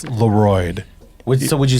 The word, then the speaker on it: LeRoid: just clear the air I'm okay with Leroy or lorid as long as you spell my name correctly spell it right guys l e r o i d the D is not silent no is the r